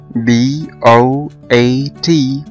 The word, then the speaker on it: boat: تعالوا ناخد ده بالامثلة، مثلا في كلمة boat او قارب مركب B-O-A-T، الاو هنا حرف متحرك والاي كمان حرف متحرك، اول حرف فيهم هو حرف الاو فنطقناه بشكل ممتد وبقى long vowel والاي بقى silent.